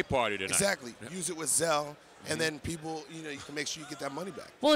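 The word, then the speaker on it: Zelle: mobile banking app featuring zel that's another way and/or it so it's pronounced cell because I see the new commercials and it's gonna be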